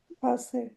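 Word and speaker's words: pasé: So it becomes Pase. pase, Pase. pase, pase. Pase, and we have more punch on the pa, right?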